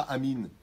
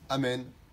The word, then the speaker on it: Amen: Pas Amen, pas Amin. On n'est pas chez Amin Dada. On ne dit pas Amin. On dit Amen avec un ségol.